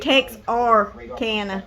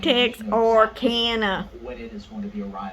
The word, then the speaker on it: Texarkana: Texarkana Texas yeah Texarkana it's not texicana it's Texarkana Texas Arkansas Louisiana Texarkana I don't